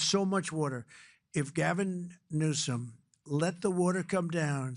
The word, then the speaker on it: Newsom: If Gavin Newsom let the water come down, see the way I pronounced his name properly for a change, if